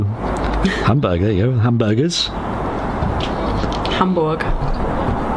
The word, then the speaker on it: Hamburg: Hamburg, there you go. Hamburgers. Hamburg. Is that how you pronounce it? Yeah, it's not Berg. It's Borg. Borg.